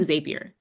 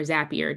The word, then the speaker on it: Zapier: different, it's kind of like Zapier, or Zapier, depending on how you say it.